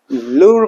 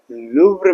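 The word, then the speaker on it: Louvre: इसके बाद हम देखेंगे लूर म्यूजियम के बारे में। इसका प्रॉपर प्रोनाउंसिएशन है लुब्र म्यूजियम।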